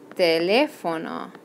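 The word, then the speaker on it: teléfono: left oh no okay remember that this accent mark up here will indicate to us that the emphasis is on that second syllable so you're gonna see that in your wanna say telephone but it's telefono Qualis su telefono that's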